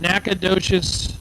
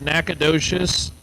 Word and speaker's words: Nacogdoches: Dylan Bailey out of Nacogdoches, Texas. I tell you what, if you saw the spelling of Nacogdoches, there is absolutely, positively no way you would pronounce it that way.